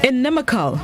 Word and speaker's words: inimical: sticking this morning's word of the day is inimical inimical it's spelled i-n-i-m-i-c-a-l in nimikal it's an adjective which